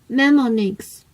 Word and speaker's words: mnemonics: Mnemonics, the initial M is silent.